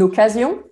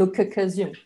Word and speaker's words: occasion: So same thing, but for the double C with two k, but you have to pronounce it as if there were only one C. Une occasion and not une occasion, okay?